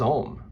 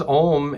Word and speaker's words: Om: And that sound is Om. Now, when we use Om as a mantra meditation, it's very important, and